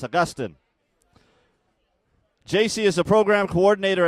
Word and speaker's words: Augustine: Augustine. I was trying to give it the Filipino pronunciation. Augustine. No, it's Augustine.